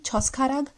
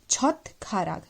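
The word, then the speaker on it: 젓가락: Why we are not saying choskharag? Because there is a rule that when the final sound is shiat, shiat, so the sound will come of thiyat, thiyat, th. So it will be chotkarag, not choskharag. So that's why there is a difference.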